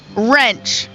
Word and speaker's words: Wrench: Can you name the silent letters? Last 3. Here we go. Wrench.